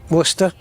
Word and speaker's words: Worcester: Our assigned gate is Yeah, Worcester. Yeah, that's how we pronounce it as well.